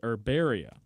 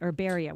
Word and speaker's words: Herbaria: First of all, I pronounced the name of our $250 gift certificate for today's 12 Days of Christmas wrong. Connor, correct me one more time. It's Herbaria. Okay, Herbaria, which is the name of the shop.